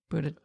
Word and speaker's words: Buttigieg: Buttigieg. Buttigieg.